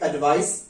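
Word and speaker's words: advice: तो एडवाइस, इसको आप बोलेंगे एडवाइस, सा का उच्चारण आएगा और इसमें जा का उच्चारण आएगा।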